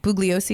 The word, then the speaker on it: Bugliosi: It's written by Vincent, I think Bugliosi is how you say it.